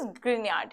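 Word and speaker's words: Grignard: Correct pronunciation is ग्रिग्नार्ड reagent.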